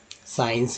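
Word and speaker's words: science: यहाँ सी साइलेंट हो जाता है और एस का उच्चारण होता है।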